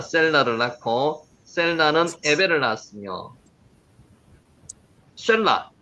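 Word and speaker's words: שֶׁלַח: 셀라를 낳고 셀라는 에벨을 낳았으며 샬라, 샬라에서 나왔습니다. 샬라라고 읽혀집니다.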